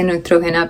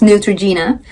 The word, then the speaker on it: Neutrogena: I say NEUTROGENA because that's how you say it in Spanish, but it's NEUTROGENA in English.